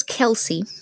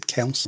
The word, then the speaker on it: Kelce: It is Kelsey. Is it? All right. I read a pronunciation guide and it said Kelce. Oh, I'm pretty sure it's Kelsey.